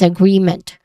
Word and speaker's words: agreement: Pronunciation wise you start with um awa sound a and then followed by gree which has a consonant blend sound at the beginning and then followed by or add paired by a short e vowel sound.